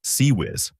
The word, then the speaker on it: CIWS: The Failins close-in weapon system or CIWS, pronounced CEW whiz.